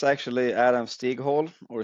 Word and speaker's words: Stighäll: Adam, just introduce yourself a little Yeah, so it's actually Adam Stighäll or Stighäll in bit. Swedish pronunciation.